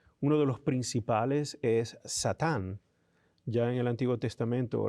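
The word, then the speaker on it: שָׂטָן: Cuando es verbo, la A, la última es más breve, Satán.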